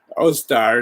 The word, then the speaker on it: Ostara: You know, today in my religion, you know, it's Ostar is how it's pronounced, but she came to us about 1,300